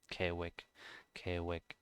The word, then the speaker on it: 계획: This one should be kie, but you don't hear the I. It's just K.